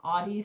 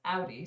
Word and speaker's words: Audi: hear people call it audi and i'm like oddie sounds so stupid it's audi stop pronouncing that wrong or porsche is supposed to